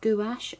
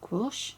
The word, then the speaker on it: gouache: Now, here we have the art of gouache or guache, depending on how you'd like to pronounce it.